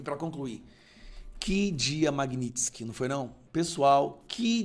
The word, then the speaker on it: Magnitsky: Magnitsky, a pronúncia correta, tá?